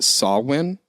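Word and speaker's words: Samhain: h AI n but it's pronounced saw win so and it's a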